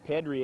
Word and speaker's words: Petrie: Kicked out by Andy Lacey, but it was a good job kept in by Kelby Petrie Edwards. Pronounced more formally, Pedri Edwards.